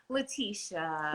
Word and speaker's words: Leticia: your name correctly because there are a couple of ways to pronounce your name so which which way do you prefer latisha latisha okay awesome people